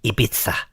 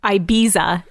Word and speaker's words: Ibiza: from Spanish languages that you can say Ibiza if you want, but everyone else will think you're a dickhead. Mm-hmm. So Ibiza is fine. So mojo is probably fine. But Ibiza is not fine. Well, no, because that's not how you pronounce it. But that's how Americans say it. Do they? Yeah. I thought they said Ibiza. They pronounce it like a hard Z.